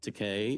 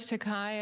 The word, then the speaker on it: Takei: Here's George Takei. It rhymes with Takei.